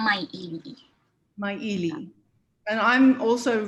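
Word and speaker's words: MAIIAM: The Maili Museum, is that how you say it? It's called Mai Ili.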